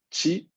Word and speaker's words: ち: Su, chi, shi.